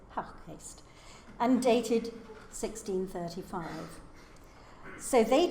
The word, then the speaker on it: Houckgeest: I know there's a debate about the pronunciation. I'm going to say Haukgeest.